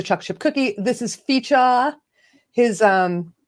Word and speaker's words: Fico: chip cookie this is fija his um name is spelt fee i see f-i-c-o and everybody was calling them fico but it's actually fijah and he's probably like